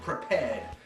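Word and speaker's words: Prepar3D: this and they have something called prepared which is spelled PR P 3D of all things it's a bug fix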